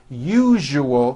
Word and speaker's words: usual: are not being understood let me show you how to pronounce the word usual correctly break it up into three syllables you jus oh that second syllable jus the one with the underline needs to be voiced put your hand on